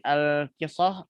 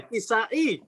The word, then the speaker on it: Al-Kisai: maka Imam Nafi', Ibnu Katsir, Ibnu Amr, dan al-kisah al-kisai. Gitu ya. Al-Kisai. Ini dibacanya al-kisai.